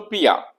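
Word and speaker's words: بیا: आमदन, बे प्रीफिक्स है, इसका प्रेजेंट आ है, ब्रैकेट में जो ये है ये कॉन्सोनेंट है, तो बिया, जैसे हम बे आ नहीं कहेंगे, ये एक्सेप्शन है।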